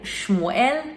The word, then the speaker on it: Shmuel: E Samuel, ou em hebraico, Shmuel, significa literalmente o nome de Deus.